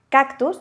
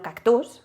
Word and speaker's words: cactus: En este caso, sabemos que el golpe de voz está aquí porque al pronunciarlo decimos cactus y no cactus, ¿vale?